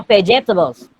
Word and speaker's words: vegetables: Dibaca J ya, vegetables.